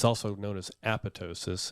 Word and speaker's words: apoptosis: Apoptosis means cell death. That's cool. Yeah. Cool word for that. It's also known as apoptosis if you don't pronounce the other P.